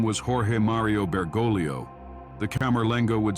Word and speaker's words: Camerlengo: The task belongs to a special person called the Camerlengo, pronounced Camerlengo.